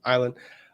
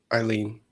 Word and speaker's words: Eileen: Island. Nope. I learned how to pronounce that because I got a DM and I'm going to do it. You guys all DM me during this entire thing. I can't find it. Eileen. I'm saying Eileen.